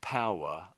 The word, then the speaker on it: power: Um and when you're saying power, I I I can really hear there's a W in it, but a lot of people in Britain sort of miss the W is fairly quiet, I would say.